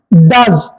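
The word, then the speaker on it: does: sound வருகின்ற ஒரே ஒரு சொல் டி ஓ இஸ் டஸ் அடுத்ததாக இந்த சொற்கள் எல்லாவற்றிலும் ஓ யூ வருகிறது இந்த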